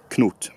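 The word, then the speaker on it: Cnut: And bear in mind, in Old English it's only one syllable, so it's not Knut, but it's Knut, Knut.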